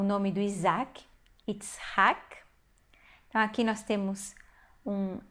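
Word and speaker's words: יצחק: Nós temos aqui Itzhak, que é uma palavra nova no nosso vocabulário, é o nome do Isaac, Itzhak. Então, aqui nós temos um A, ele é uma sílaba fechada, mas é a sílaba tônica.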